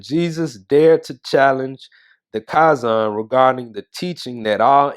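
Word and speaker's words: chazan: dared to challenge the kazan regarding the teaching that all images pictures and drawings were idolatrous in nature so come to find out i think i was pronouncing it wrong kaizon in the last episode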